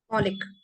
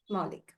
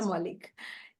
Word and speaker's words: Moulik: And she is Miss Maulik. Moulik. Moulik. Did I get your name right? Did I Yeah, mispronounce? yeah. No, nothing. Moulik.